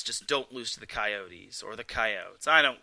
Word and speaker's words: Coyotes: they're actually pronouncing it it's not coyotes it's coyotes either way they're playing arizona